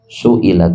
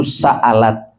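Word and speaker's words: سئلت: Dalam qiraah jumhur ahlil qiraah, ayat ini dibacanya wa idzal mau'udatu su'ilat. Dalam satu riwayat disebutkan wa idzal mau'udatu sa'alat.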